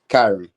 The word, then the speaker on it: Kyran: KYRAN.